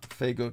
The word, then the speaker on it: Faygo: um Spanish drink that that but no the Faygo I'm thinking of then you haven't heard of